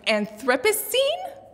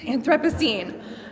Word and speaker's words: Anthropocene: oh god again i looked up how to pronounce it ahead of time and anthropocene that's perfect yes anthropocene um we are so excited to collaborate with